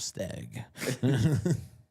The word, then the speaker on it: Stagg: Staggy ended up with. Right. Many, many bottles of stag. I mean, You gotta say it right though. Remember, it's stag.